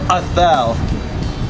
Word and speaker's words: Athel: Now, who is your favorite member and what you would pronounce Athel? Am I not saying it right? It's Athel.